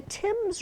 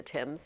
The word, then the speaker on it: Thames: The Tims River, you know, it's spelled thames, but we call it the Tims, and it flows into London.